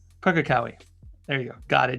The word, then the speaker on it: Pukekohe: the name in New Zealand that I couldn't pronounce? Pukekohe. Pukekohe.